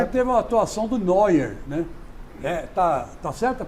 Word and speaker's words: Neuer: ele teve uma atuação do Neuer, né? Tá certa a pronúncia? Tá, Manuel Neuer.